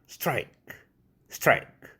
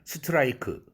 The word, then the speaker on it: strike: 그래서 한국인이 영어의 이름절어로 된 단어 strike 이것을 스트라이크 다섯 음절로 5음절어처럼 스트라이크로 잘못 발음하는 것은 음절의 개념을 정확하게 인식하지 못하고 있는 데에서 그 원인을 찾을 수 있습니다.